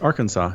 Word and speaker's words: Arkansas: You said Kansas, and then I looked at Kansas at Google, and there's another state called, I think it's pronounced Arkansas. Yes, Arkansas.